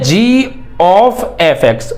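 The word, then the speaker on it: g∘f: यानी कि जी ओ एफ को हम पढ़ते कैसे हैं? इसका प्रोनाउंसिएशन कैसे करते हैं? इसको बोलते हैं जी ऑफ एफx। O means of.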